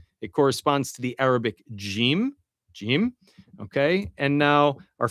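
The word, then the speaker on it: جيم: It corresponds to the Arabic jim.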